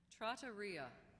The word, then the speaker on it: trattoria: Are there any alternate pronunciations? Caballero. Caballero. C A B A L L E R O. Caballero. Trattoria, an eating house, a restaurant.